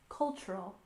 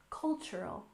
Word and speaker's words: cultural: for example cultural exchange remember that culture stresses the first aable cultural cultural and exchange we stress